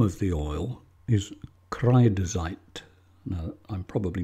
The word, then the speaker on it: Kreidezeit: The name of the oil is Kreidezeit. Now, I'm probably not pronouncing that correctly, but to spell it out, it's K-R-E-I-D-E-Z, or Z if you're an American, E-I-T, Kreidezeit.